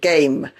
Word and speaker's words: game: For example, game, the A is pronounced A and the E is silent, game.